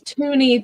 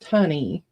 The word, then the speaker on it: Tunney: Miss Susan Tunney would like one. Okay. She's Tooney to me, but it's pronounced Tunney.